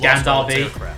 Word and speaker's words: Gunther Bay: They say that it's pronounced Gandar Bay, but it looks like it's spelled Gunther Bay.